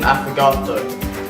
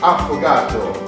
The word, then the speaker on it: affogato: We are going to learn how to make an affogato. Hang on boys, I'm going to say it with an Italian accent. It's Affogato.